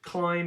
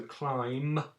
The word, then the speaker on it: climb: most only and both climb is the only funny one because we so climb it's got a silent b on the end like lamb climb and lamb they